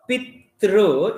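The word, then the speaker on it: पितृ: Whereas in the case of Pitru, it is Rikaranta. Pitru, here it is U. Tru. Okay, Tru and Tru. We should not pronounce this as P-tru. P-tru is wrong.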